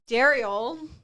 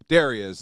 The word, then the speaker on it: Derrial: I said it because Thank you for saying my name correctly. You're welcome. Cuz Ryan, who I've known for years, has done different altercations of my name today. Darius, Daryl, Derell.